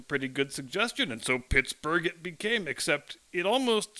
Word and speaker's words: Pittsburgh: local phonology changed and people switched to calling it Pittsburgh with the hard G sound on the end and the reason why probably has much to do with the influx of German immigrants to the area beginning in the mid 19th century a native German speaker would never look at b-u-r-g-h and say burrow they would just say Berg in the German fashion and both suffixes mean